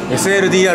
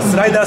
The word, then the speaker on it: SLDR: た SLDR 身から SLDR と読みますこれ僕なんかスライダースライダーとか言ったらスライダーじゃありませんってあのテーラーメイドの